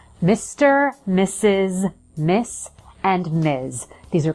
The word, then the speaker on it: Mrs.: it sounds like this mrs. so the pronunciation is exactly the same as the word mrs. as in he misses you when you're away the first s sound